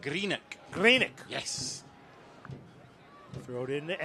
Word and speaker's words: Greenock: Let's get this pronunciation of you correct. Greenock.